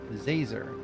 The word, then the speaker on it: Zazer: It's Professor Zazer. Like laser with a Z.